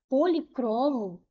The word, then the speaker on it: policromo: O cro aqui foi a sílaba mais forte. Então a última penúltima, ela é uma palavra paroxítona.